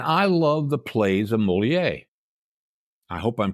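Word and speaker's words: Molière: reading plays and I love the plays of Moler I hope I'm pronouncing that right oh molier yeah molier okay and there many of his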